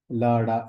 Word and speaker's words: LADA: Immune diabetes of adult, LADA, लाडा, ऐसे भी इसको प्रोनाउंस किया जा सकता है या किया जाता है मेडिकल बुक्स में।